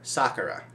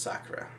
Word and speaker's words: Sakura: my bad card captor sakura yes i learned to pronounce sakura not sakura like they did in card captors so yeah and um